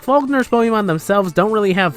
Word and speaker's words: Falkner: you may be thinking is that how you pronounce the name yes that is exactly how you pronounce the name i've heard people pronounce it like that before so i'm pronouncing it right it's just it sounds